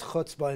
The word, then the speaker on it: chutzpah: And there is chutzpah involved in this, to pronounce it the guttural way.